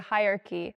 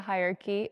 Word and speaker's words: hierarchy: the bottom of the hierarchy is the priest. She is. She's saying hierarchy. The word is not pronounced hierarchy. It's pronounced hierarchy. Hierarchy. 4 syllables. Not hierarchy, not 3, but 4.